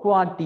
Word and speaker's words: QWERTY: குவாட்டி என்று சொல்லி நாங்கள் அதை உச்சரிக்கிறோம் ஒரு சொல் மாதிரி. உண்மையாக அது ஒரு சொல் அல்ல, முதல் ஆறு ஆங்கில எழுத்துக்களும் தான் அப்படி இருக்கு. ஆனால் நாங்கள் அந்த அந்த இந்த முதல் ஆறு ஆங்கில எழுத்துக்களையும் வச்சுக்கொண்டு ஒரு சொல் மாதிரி உச்சரிப்போம், குவாட்டி கீபோர்ட்.